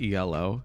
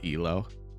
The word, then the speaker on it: Elo: the ELO the word ELO well it's actually pronounced ELO it's not ELO but I digress there's no w we could